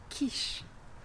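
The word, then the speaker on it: quiche: boczku Loren i tutaj Zwróć uwagę na wymowę literki q dwie literki dają jeden dźwięk ka Kis tak jak w słówku kto ki ki jeśli chodzi o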